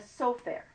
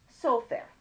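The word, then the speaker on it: סופר: are written here's a soak there that's a scribe and sometimes you will see it written slightly differently it's pronounced exactly the same but instead of just having to hole them over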